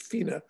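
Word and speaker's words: Whina: And largely due to this wonderful old lady called Fina, looks spelt Wina, W-H-I-N-A, but it's pronounced Fina Cooper, who was an extraordinary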